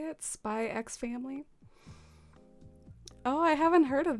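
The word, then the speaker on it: Spy × Family: and salad i was watching a new anime spicks family is that how you say it spy x family oh i haven't heard of that it sounds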